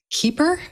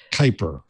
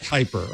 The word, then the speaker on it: Kuiper: Kuiper. Kai as in guy. Guy as in guy. Kuiper.